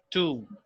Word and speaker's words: tomb: This one here, the B is, this one is silent. We do not pronounce this particular word. Tom. And this one is pronounced with double U. So this goes like tomb.